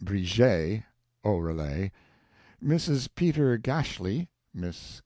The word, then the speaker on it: Bridget: Patrick Oreille, pronounced O'Relay, Miss Bridget, pronounced Briget O'Relay, Mrs.